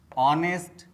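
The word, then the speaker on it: honest: you repeat after me honour honour our आवर ऑनेस्ट ऑनेस्ट will will whisper whisper what what wit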